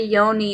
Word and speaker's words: yoni: The Yoni and Lingam Massage. Yoni, pronounced yoni, is the Sanskrit word for the vagina.